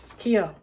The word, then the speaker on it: Kyo: Renge, Renge, Kyo.